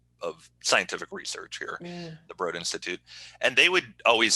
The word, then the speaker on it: Broad Institute: for the broad institute it's spelled b-r-o-a-d so it looks like broad but it's broad institute which is a um